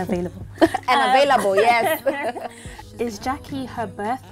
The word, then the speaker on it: Gyakie: In Ghana, where I come from the Ashanti region, where we speak Tri, the language called Tri, anything that is written in G-Y is pronounced as J.